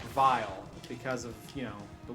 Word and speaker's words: Wily: And in German, the W is pronounced like a V. So I think it's still Dr. Vile, even in English. It's just not spelled the same way.